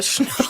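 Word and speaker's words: snjór: Vous n'avez pas la prononciation? Non, pas encore. Schnur.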